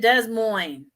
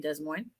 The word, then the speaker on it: Des Moines: I'm not going to be in Des Moines. Des Moines. I know I'm being funny. I've lived in Iowa. You don't pronounce the S's, just saying.